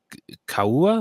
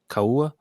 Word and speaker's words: Kauai: planet Earth, crashing in the Hawaiian island of Kauai. I think that's how you say it. Kauai.